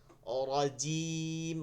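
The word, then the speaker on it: رجيم: নরম হয়ে গেল যা এইভাবে জিমের উচ্চারণ সবসময় রজি র জি রজিম রজি জি রজিম আউজুবিল্লাহি মিনাশ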